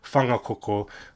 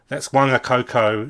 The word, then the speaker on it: Whangakoko: WH words in are pronounced with a f sound in Maori. So the word he's got there he's got whangakoko, whangamarino, whangamata, and whangamoa. And if you're a white Pākehā, and you're like a lazy racist like this chap, he'll go, that's wangakoko, wangamarino, wangamata, and wangamoa. That's how they'll pronounce it, like they see it in English.